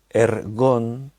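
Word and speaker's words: ἔργον: es una palabra griega ergon así tal como se lee como se pronuncia el gong que significa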